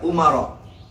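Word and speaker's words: عمر: Nah Umar itu isim ghair munsharif. Makanya dibacanya ketika dia majrur dibaca Umar.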